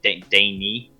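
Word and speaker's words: Dani: out vr game is a guy called danny we're sorry not danny daney um i okay i'm sorry i cannot pronounce the names for the life in me but it's spelled d-a-n-i um but yeah dane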